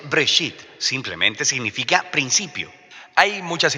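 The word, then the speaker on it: בראשית: se llama génesis génesis viene de una palabra hebrea se pronuncia break sit simplemente significa principio hay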